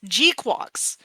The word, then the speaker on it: GQuuuuuuX: We've got a pronunciation, folks. Gqu Quarks.